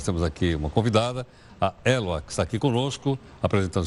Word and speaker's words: Héloa: É aspirado? É, na verdade, a palavra original é Eloa, mas no Brasil ele ficou mudo, né?